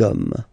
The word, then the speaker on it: hommes: homme, and after that you just put the S at the end. You don't pronounce it, so you get des hommes, okay?